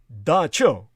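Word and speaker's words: dab tsog: that at the dawn of time their god da cho which is spelled as in the capuchin the cambodian language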